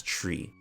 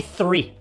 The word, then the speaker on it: three: For example, the word three has the th sound, and when native French speakers try to pronounce this word, they often pronounce it as tree. Okay, say three.